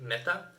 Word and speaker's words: Mäta: is saying Mäta, but because of those two accents above the A, that gives it like an E sound, right? Like me. Mäta. So this is pronounced Mäta.